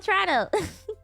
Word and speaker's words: Toronto: No, you that is how you say it. It's called Trato.